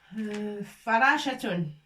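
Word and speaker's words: فراشة: Et on va trouver le mot farashatun. Farashatun. Fa. Avec fatha, ça fait fa. Ra avec alif pour prononcer ra.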